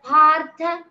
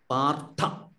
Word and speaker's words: पार्थ: Partha, this is Mahaprana, that also should be pronounced with stress. Okay. Uvacha Partha Pashyaitan Samavetan Kuruniti. Partha.